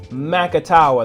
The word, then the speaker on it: Macatawa: how to understand and pronounce the word Macatawa it's Macatawa that's how we call it out here in michig michig and in